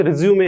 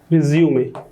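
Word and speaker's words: résumé: रिज्यूमे का मतलब होता है, कई लोग उसको रिज्यूम पढ़ते हैं, रिज्यूमे याद रखना, ई के ऊपर ऐसा निशान रहता है इसलिए उसको बोलते हैं रिज्यूमे, सही प्रोनाउंसिएशन है।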